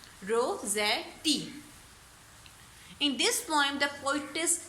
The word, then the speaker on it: Rossetti: CHRIS Chris, TINA टीना, Chris टीना, CHRIS Chris, TINA टीना, Christina रोज़ेटी, ROSSEZ, रोज़े TIT, रोज़ेटी, Christina रोज़ेटी, ROSS रोज़ ETTIT, Rossetti.